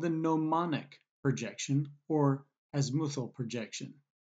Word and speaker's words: gnomonic: Another projection method is something called the gnomonic projection or azimuthal projection. Notice the silent G in the word gnomonic.